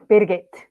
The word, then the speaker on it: Birgit: So talking about words, I'm not sure if I pronounce your name correctly. Is it Birgit or Birgit? Birgit.